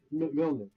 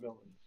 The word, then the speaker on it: Milnik: Milnik Milnick, not Milick.